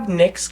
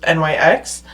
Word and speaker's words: Nyx: Well, their logo is literally just NYX. It's pronounced Nyx, not NYX, but it's named after the goddess of the night, Nyx, and she is one of the OG goddesses.